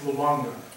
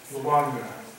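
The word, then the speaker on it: Lwanga: Charles Lolonga. So we have a new name. That's spelled L-W-A-N-G-A. Okay. Lolonga.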